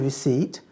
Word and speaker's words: receipt: would you focus on muscle and receipt have a silent letter so we'll need a